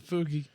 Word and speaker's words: fugue: Fugi state. The fugue.